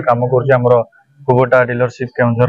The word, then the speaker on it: Kubota: को company tractor एटा कुबोटा company tractor actually आमे यार प्रोनाउंसिएशन भूल करछन समस्ते। अच्छा एटा कुबोटा नुवा कुबोटा गोनसोर कुबोटा जे कि